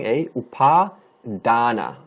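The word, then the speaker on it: upādāna: this by ourselves is paw UPA long a u P long a paw Donna D long a and a paw Donna Karan ah ha Donna Khurana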